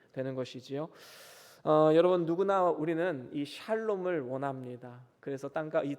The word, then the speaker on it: 샬롬: 평안이란 뜻을 가지고 있지요 성경에는 여호와 살롬이라고 번역이 되어 있는데 정확한 발음은 샬롬이 맞습니다 그래서 여호와 샬롬 이렇게 우리는 발음하면 되는 것이지요 여러분 누구나 우리는이 샬롬을 원합니다 그래서 땅과이 땅